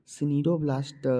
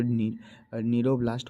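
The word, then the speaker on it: cnidoblast: यहाँ CNIDO सिनीडोब्लास्ट लिखा हुआ है, लेकिन इसको नीरोब्लास्ट पढ़ते हैं क्योंकि सी साइलेंट होता है।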